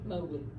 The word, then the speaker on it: Mowgli: I know I mispronounced it. Is it Mowgli? Mowgli.